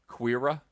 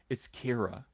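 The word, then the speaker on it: Qi'ra: Amazingly, I pronounced it wrong. It's not Quira. It's Kira. I should have known. I should have known that the Q was a hard K sound and not a Q sound.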